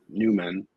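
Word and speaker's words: Nyman: like I think Yanni I said nman I believe but I believe it's pronounced Newman Yanni Newman big power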